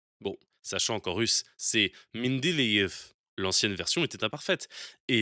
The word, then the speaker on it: Mendeleïev: Notez aussi la prononciation anglaise, The Mendeleev Table.